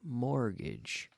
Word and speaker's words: mortgage: both eka mortgage mortgage we have a silent T there we say mortgage to get a mortgage